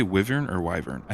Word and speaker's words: wyvern: It's wyvern.